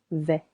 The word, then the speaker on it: vais: Je vais je vais silent s and the phonic a sounds je vais tu vas silent s va il on va The next one is regular.